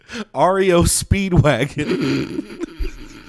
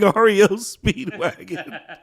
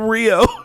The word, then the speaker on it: REO Speedwagon: you guys know but you're you're nighttime guys mispronouncing REO Speedwagon calling him Rio look I don't know